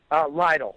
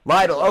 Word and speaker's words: Leidl: do you pronounce it Leidl? Leidl. Leidl.